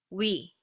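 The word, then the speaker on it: 위: But in Korean, it's simply we, we. You don't really put that extra air behind your upper lip.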